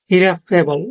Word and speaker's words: irreparable: তারপর হচ্ছে ২ নাম্বার শব্দ ইরেভকেবল। এটা ইংরেজরা এভাবে উচ্চারণ করে।